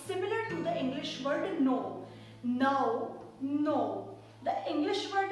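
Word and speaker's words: नौ: second number is nine to pronounce mine in Hindi we have to say no no as you say the word no in English you have to just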